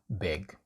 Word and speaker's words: big: Next we have big, big.